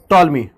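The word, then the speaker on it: Ptolemy: और इस भूकेंद्रीय सिद्धांत को देने वाले व्यक्ति का नाम था टॉलमी। पी साइलेंट है, टॉलमी।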